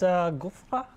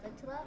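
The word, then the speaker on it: غترة: Yes, that's gufra. I don't know how to pronounce it. It's actually a ghitra.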